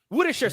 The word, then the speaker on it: Worcestershire: Woodisher sauce.